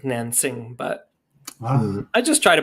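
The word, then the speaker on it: Nanjing: As someone who's about to teach World War II, my students who are of Chinese origin, they laugh when I say Nanking because it's Nansing, but I just try to politely pronounce things.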